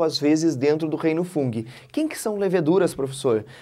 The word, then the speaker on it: fungi: aí vem para o reino fungi ou funghi também pode ser pronunciado dessa forma você tem como representantes